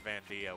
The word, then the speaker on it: Vandio: Oh, that's not Vandit. That's Vandio. We've been saying it wrong this whole time.